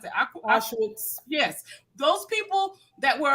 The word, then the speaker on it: Auschwitz: How do you pronounce it? Auschwitz.